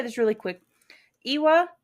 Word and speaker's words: lwa: Iwa is how we're saying it. I'm not sure that's how you say it, but it's LWA.